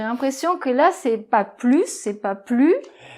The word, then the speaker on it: plus: - Oui alors, avec la liaison ça complique un petit peu les choses parce que, effectivement, le mot "plus", c'est un mot qui fait la liaison.